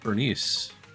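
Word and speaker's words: Burnice: pronounced like that though her name is pronounced Bernice that's that's how it's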